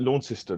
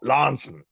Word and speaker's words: Launceston: is called Launceston oh you see we wouldn't pronounce it launch system like that it's it's just in fact if you come from law says Lansing course remember practice the